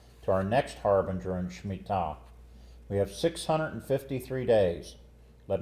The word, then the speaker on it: Shemitah: Shemitah.